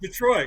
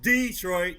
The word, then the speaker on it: Detroit: Detroit. It's not Detroit. It's Detroit. Not Detroit.